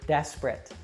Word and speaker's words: desperate: look at the word desperate now the stress falls on the first syllable deaths and the other two syllables we actually reduce and pronounced with that schwa sound and the same thing